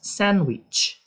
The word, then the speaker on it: sandwich: That is Anna's sandwich. That is Anna's sandwich. Esse D aqui ele é mudo.